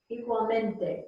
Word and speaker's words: igualmente: Igualmente. Igualmente. Yes. The I in igualmente, I's are E's. Igual, igualmente.